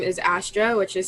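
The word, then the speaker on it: Astere: on my music handle or artist name is astra which is spelled a-s-t-e-r-e um and you can just look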